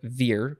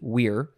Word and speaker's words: vir: which is spelled v-i-r it looks like veer but they would have pronounced it weir and that means man